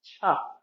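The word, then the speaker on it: chih: That third word is spelled ch hih and it's pronounced cha like chuck wagon.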